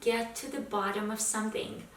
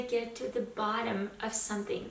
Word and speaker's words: get to the bottom of something: to it let's start with expression number one get to the bottom of something mind the pronunciation here I get to the bottom of something that flab T should be pronounced nicely and